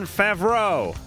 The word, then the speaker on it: Favreau: All right, tomorrow night, and John Favreau. Yeah, I pronounced that right.